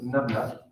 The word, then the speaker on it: nabla: Donc c'est ce signe, une sorte de triangle à l'envers, ça se prononce nabla.